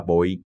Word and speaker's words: bối: Theo chữ Hán, chữ bối là lưng. Có thể đọc là bội, mang nghĩa bội bội.